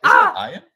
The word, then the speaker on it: Ian: I'm like, Ian? Ian Ziering? I'm pretty sure it's pronounced Iron.